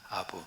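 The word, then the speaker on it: אב: 아버지라고 하는 말을 히브어로 아부라 그럽니다. 아부. 이게 우리 아버지하고 발음이 좀 비슷하잖아요.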